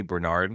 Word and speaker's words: Bernard: I think it's Jeremy, isn't Jeremy Bernard? Is that how you say it? It is Jeremy Bernard.